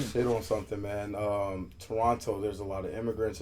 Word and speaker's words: Toronto: You don't pronounce the hard T at the end. No Toronto, just Toronto. Toronto.